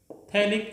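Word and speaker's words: phthalic: This is called थैलिक acid. थैलिक acid. PH silent है इसमें, क्या बोलेंगे इसको हम? थैलिक acid.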